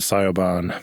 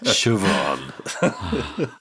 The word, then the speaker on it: Siobhan: Tell that to your friend Sayoban. Siobhan.